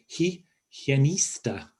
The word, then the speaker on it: higienista: Higienista dental. La higienista dental. The H isn't pronounced and the G is a H sound.